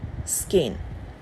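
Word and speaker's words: skein: ठीक है, स्पेलिंग होती है ये, लेकिन हम उसे प्रोनाउंस करते हैं स्केन।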